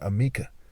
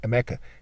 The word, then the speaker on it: Emeka: Bethlehem, Beltheham, Yamika, Amika, which is a variation, and one way to say my name, Emeka, also said as Emeka or Amika. Okay, there's various ways that people say it, but it's really Emeka in a certain way that's like a characteristic of Igbos.